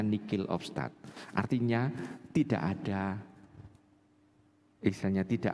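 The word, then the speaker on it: nihil obstat: atau nihil of start tulisannya nihil of start bacanya Nick of start artinya tidak ada istilahnya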